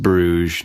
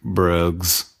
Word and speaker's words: Bruges: right we just screened in Bru pronounced Brugge not brgs bu Bess we tried